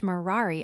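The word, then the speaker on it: morari: For he used to say by way of jest that he had ceased marari amongst men, pronouncing the first syllable long, and treated as null many of his decrees and ordinances as made by a doting old blockhead.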